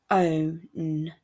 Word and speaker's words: phone: Okay, so this word is phone. Phone. There's the F sound at the beginning, and it's also got the split digraph O at the end.